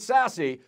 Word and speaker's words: SASE: exciting to say and yes we really do pronounce it sassy secure access service edge what we call sase this is the idea of taking our wan